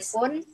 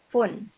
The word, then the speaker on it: phone: On My P ya Jadi kalau p sama H ini kan dia ketemu nih dia dibacanya F ya kak ya Jadi bukan phont nih yang ini nih nomor p sama h oh font phone kan itu tulisannya p